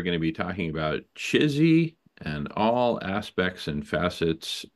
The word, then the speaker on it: Chizzy: But anyway, we pronounce it uh, Chizzy.